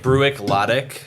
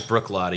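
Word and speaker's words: Bruichladdich: i c h it looks like brck it's pronounced Brook L it looks like bruck ladic is what looks like but it's Brook lot yeah I can't believe I messed that up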